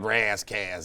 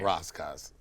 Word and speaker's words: Ras Kass: 20 on it so I called it Ras Kass instead of Ros Koss But KRS-1 still calls